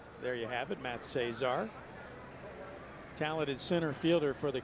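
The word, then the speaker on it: Szczur: And you'd look at his name and you would never figure out how to pronounce it from the spelling, but there you have it, Matt Cesar.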